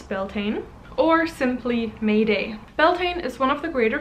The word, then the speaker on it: Beltane: So it is almost time for Beltane, and I'm probably mispronouncing that, I am aware. I believe it is correctly pronounced Baltana, but I may be wrong.